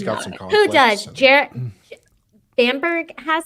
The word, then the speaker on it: Bamberg: Bamberg, yeah.